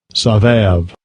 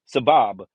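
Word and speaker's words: סָבַב: They don't even have a V in there. Why is it always got to pronounce the word Rosavav? Where do you even? It don't even have a V in there. It's Sabab. Sabab. You don't need the W. It's just Sabab.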